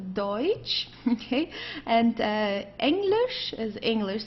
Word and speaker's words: Deutsch: Okay, don't confuse it with Dutch. This is not Dutch, it's Deutsch.